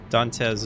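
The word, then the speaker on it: Dantius: So wait, do I say Dante or Dantes? Dante Z. Dante Z. Metigel. Metigel. I want to make sure I'm saying it right. Ooh, that scared me. Hi, Ashley. Dantes is right.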